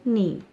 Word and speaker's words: knee: Here K is silent in knee.